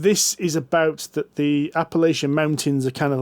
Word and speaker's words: Appalachia: So John and I played Old Gods of I can't pronounce this. Appalachia. Appalachia? Not alopecia.